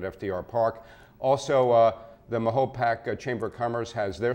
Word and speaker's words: Mahopac: No, it's Mahopac actually. Uh that's what I was told. And I like to pronounce things.